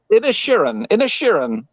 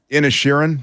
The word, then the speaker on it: Inisherin: Inisherin. Of Inisherin. The Banshees of Inisherin. Polish your Irish accent a little. It's an Irish thing.